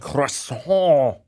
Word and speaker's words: croissant: Croissant. You have to say it like you're having nasal problems.